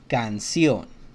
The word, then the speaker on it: canción: So all the A, O, and U letters, vowels, whenever the C is right next to these three vowels, it always sounds like a K. Canción.